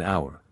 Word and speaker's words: hour: hour by the way never pronounce the h in hour that sounds Dreadful then as to that